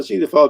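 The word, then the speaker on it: Zythophile: there that's called uh zeto file that's pronounced uh see the file dot co dot uk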